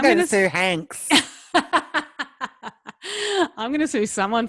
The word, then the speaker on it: Hanks: His name is Hanks. Hanks with an X. Rhymes with wanks.